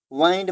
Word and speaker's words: wind: और दूसरे विंड, यहाँ पे जो ये WIND इसको अब विंड नहीं पढ़ेंगे, यहाँ पे इसका होता है वाइंड।